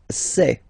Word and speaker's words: sais: Je sais. Okay, final S not pronounced, and then you get this A-I, E.